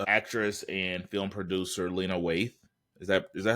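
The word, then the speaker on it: Waithe: And yeah, but on a on a more positive note, actress and film producer Lena Waith, is that is that how you pronounce Waith? Right. Yeah, it's Waith has a podcast has a show and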